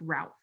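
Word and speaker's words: Routh: sure brandon is uh his last name is pronounced ralph rhymes with south okay right i've heard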